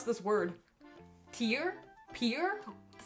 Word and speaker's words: Pierre: Pierre? That sounds. You're not pronouncing the I.